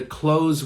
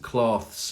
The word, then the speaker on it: clothes: But what most people don't understand is that the clothes we wear is pronounced almost the same.